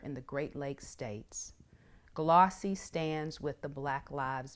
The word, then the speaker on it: GLAAWC: That's GLAAWC, and we pronounce it GLAAW-C.